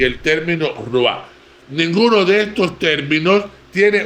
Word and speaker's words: ruah: Bien, la idea que la cultura hebrea se hace del hombre se refleja en tres términos antropológicos claves: basar, nefes y ruah.